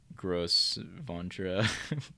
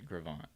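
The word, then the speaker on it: Gros Ventre: Because I'm pretty sure I was pronouncing it Gross Ventra before, which is definitely a sin. At least I've heard that it's pronounced Gravant now, and that definitely rolls off the tongue better.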